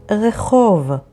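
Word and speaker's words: רחוב: The next word is the word rechov, which means street, and it is spelled with resh, chet, vav, bet.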